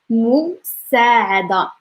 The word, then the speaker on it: المساعدة: And the pronunciation of musa'ada is like it has a lot of vowels. That's good. المساعدة المساعدة المساعدة ديالك.